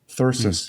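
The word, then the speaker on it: thyrsus: and his followers and it's called athersis thirsts kind of like i'm thirsty but it's spelled t h y r s u s okay versus and it's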